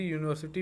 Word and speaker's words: university: Here you can see university begins with a consonant sound YU.